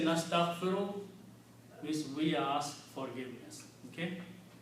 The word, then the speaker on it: nastaghfiru: And when you say nastaghfiru, means we ask forgiveness. Okay? So I'm going to put the Arab here. Nastaghfiru.